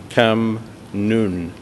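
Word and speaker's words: Khem Ngun: try again uh and perhaps it would help if I spell it phonetically uh the way it is spell phonetically in English is first k h e m and then n g u n pronounced cam nun do you know this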